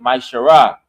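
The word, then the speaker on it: מעשר: You can find this in numbers chapter 18 verse 21 in Malachi chapter 3 verse 8-10 which means 10th in the Hebrew you pronounce it my shar 10% of every penny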